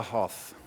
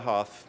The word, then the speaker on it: Hoth: my bad person is a girl called Laya Hoth and I said how do you spell that Katie and she said h o t